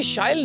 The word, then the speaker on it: Shail: So as you just said, it rhymes with style.